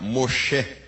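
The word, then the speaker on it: משה: Na pronúncia hebraica, Moshe, tirado das águas, extraído das águas.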